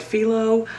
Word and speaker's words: phyllo: Then we get to work with phyllo dough. Some people call it phyllo. I actually typed this into the pronunciation app I have and it said Phyllo. So I'm thinking of my sweet brother-in-law, Phil.